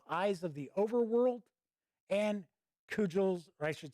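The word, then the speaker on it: Cugel: the protagonist of Eyes of the Overworld and Cudgel's, or I should say, no, yeah, I think it is Cudgel. That's how it's pronounced.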